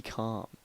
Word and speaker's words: Carm: uh if you notice it's c-a-r-m calm is spelled c-a-r-m that is because that